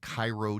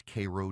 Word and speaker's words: Cairo: They have Vienna, but it's pronounced Vienna. They've got Houston County, but it's Hston County. They have Cairo, Georgia, but it's Cairo, Georgia.